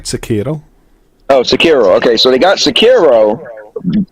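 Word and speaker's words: Sekiro: from software game they got uh you know secure i heard i've been saying it wrong how do i supposed to say a host you said it right sakiro okay so they got sakiro uh which was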